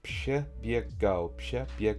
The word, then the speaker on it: przebiegał: That's przebiegał, that's 3 syllables.